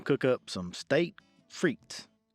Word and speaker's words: frites: Today, we're going to cook up some steak frites. Or if you say it like it's spelled, steak frites.